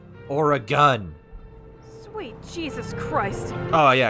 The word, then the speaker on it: Oregon: that pronounced or that pronounce oregon as like oregon or oregon and it's like no you say it right or a gun sweet jesus christ oh